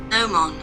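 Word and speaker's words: gnomon: Nomon.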